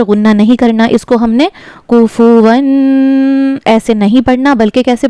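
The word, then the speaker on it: كُفُوًا: इसको हमने कुफुवन ऐसे नहीं पढ़ना बल्कि कैसे पढ़ना है? कुफुवन अहद हा का मखरज हलक का दरमियानी हिस्सा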